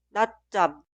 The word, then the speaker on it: 낮잠: La última palabra, 낮잠, 낮잠, 낮잠. Si la sílaba posterior de la consonante final 지읒 inicia